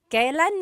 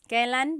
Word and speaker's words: kailan: And then just a pronunciation tip, it's pronounced kailan, kailan, but you will often hear it pronounced kailan, kailan. Kailan ang kasal? Kailan ang kasal? But it's not wrong to hear kailan ang kasal. It's a little bit more formal.